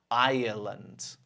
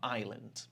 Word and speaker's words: Ireland: Ireland. Ireland. Okay, not island.